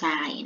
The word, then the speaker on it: ทราย: จะ อ่าน ออก เสียง ว่า ซอ อา ยอ ทราย นะ คะ อีก ต่อ ไป คำ นี้ ค่ะ